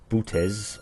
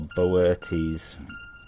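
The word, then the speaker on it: Boötes: Depending on your pronunciation of this, it's either Butes or Boertes.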